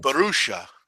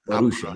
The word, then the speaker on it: Borussia: I just learned the pronunciation of Borussia, too, as opposed to other things I was saying it in. Borussia. Borussia.